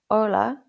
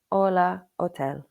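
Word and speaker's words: hola: This letter is usually silent in terms of English pronunciation. So for example, abbitasium means room, ola means hello and hotel means hotel. So it's called a but it's normally silent ola.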